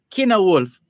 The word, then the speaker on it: Cynewulf: And this Kina Wolf is spelled CYNEWULF. CYNEWULF. Kina Wolf.